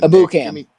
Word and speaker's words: Ebukam: Tell me how to say his name. Ebukam. Ebukam? Yeah, Samson Ebukam.